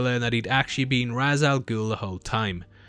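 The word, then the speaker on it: Ra's al Ghul: goul the whole time I know it's typically pronounced R but as they call him Raz to keep it consistent I'm just going to call him that throughout the breakdown he makes a journey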